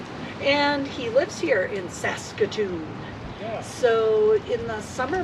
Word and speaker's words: Saskatoon: We're at a nice campground in the city of Saxaton. Pretty close. Sax S. I'm going to say it like you. Sas Saskatoon, Saskatchewan.